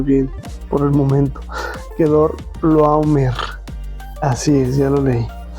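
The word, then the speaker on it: Quedorlaomer: Que Dorl no no puedo del rey que dor no no puedo realmente pronunciarlo bien por el momento. Quedor loomer.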